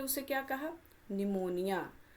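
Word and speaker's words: pneumonia: निमोनिया। तो, यह कौन सी बीमारी है? निमोनिया बीमारी है। सबसे पहले तो स्पेलिंग देखेंगे। पी से स्टार्ट हो रहा है।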